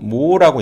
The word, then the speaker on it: mho: 요걸 우리가 뭐라고 읽냐면 모라고 읽는데, 얘는 어디에서 나온 거냐면, 어디서 많이 본 것 같죠?